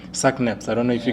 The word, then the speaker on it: SACNASP: Do check out SACNASPS. That's how we pronounce it. But in terms of the short name is SACNASP.